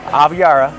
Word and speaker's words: Aviara: Pronounce it again. Aviara.